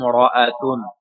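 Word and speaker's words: امرأة: হাজের হি ইয়ামিম জবর ইয়াম তখন এই হামজার উচ্চারণ হচ্ছে না ইয়ামকে সরাসরি ধরে নিচ্ছে হিয়াম মরাতুন সে একজন মহিলা হিয়াম সে একজন মহিলা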